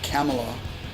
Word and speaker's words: Kamala: It's pronounced like Pamela. I always say Kamala when I'm talking about her. Kamala is a wrestler from the 80s. Kamala, pronounced like Pamela, is the presidential candidate.